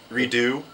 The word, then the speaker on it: Redux: Casey you do know the x is silent right redo oh it's like a redo redo yeah yeah Redux redo I like Redux